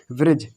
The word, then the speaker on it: bridge: तो डी हमने पहले ही बता दिया, डी है, अगर जी से पहले डी आता तो डी हमारा कैसा रहता, साइलेंट रहता, तो ये हमारा चुप हो जाएगा। तो यहाँ पर क्या बोलेंगे, ब्रिज, इसको एग, इसको ब्रिज।